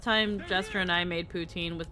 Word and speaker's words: poutine: protein yeah it's food p o u t i n e poutin yeah no that's that's actually food yeah if it helps you with the the not protein joke it's technically pronounced Putin yep ptin Putin ptin